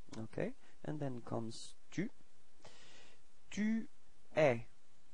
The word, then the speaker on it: tu es: Tu es. Alright, so you can notice that it's open eh, eh.